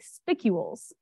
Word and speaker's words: spicule: as you've probably surmised these are called spicules uh pronounced spicule and they are tiny